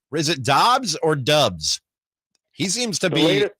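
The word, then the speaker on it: Doubs: whatnot this romeo where is it dobbs or dubs he seems to be a packer media guide says dobbs okay it's d-o-u-b-s but it's pronounced there's a lot of chatter about that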